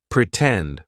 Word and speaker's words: pretend: the true T sound pretend for example in the word pretend the stress syllable starts with t tend pretend right so we're going to use the true T sound and then we can